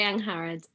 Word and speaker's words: Angharad: it for the last hour um it's young harrod and carrad yeah okay brilliant um so how